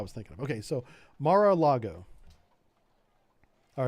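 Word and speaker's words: Mar-a-Lago: God I butchered this Mara Lago so there's no r i there's an r in the beginning Mar I I thought it was Largo because there's a Fort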